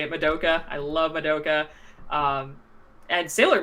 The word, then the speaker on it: Madoka: Like, oh gosh, I always say Madoka. That's not how you say it. Madoka.